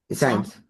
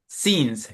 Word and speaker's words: since: no, science. Since. Chicos, Since. science es ciencia. Be careful with the pronunciation. Since.